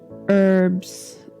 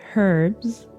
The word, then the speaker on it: herbs: who would put together herbs that's what americans say i'll say herbs that's what the british say and give people these